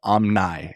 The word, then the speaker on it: Omni: so excited to be here and it's spelled Omni but it's actually pronounced Omni and so that's why the name Omni the